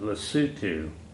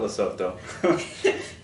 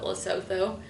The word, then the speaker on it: Lesotho: okay and uh that's when you you you pronounce it lutu MH I asked my phone how do you pronounce this and they said L what's it not loto nobody nobody says loto there not in lutu